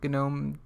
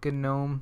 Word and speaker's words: GNOME: to Appearance and go to Application Style, configure GNOME GTK application styles. And if you're new to Linux, the reason why I pronounce it GNOME, you know, it's a long story.